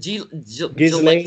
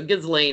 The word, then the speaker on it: Ghislaine: Is it Ghislaine Maxwell? Ghislaine. I always say I put the S in there, and some people say it's silent, and I can't say it without the S. So Ghislaine, I'll say it the wrong way.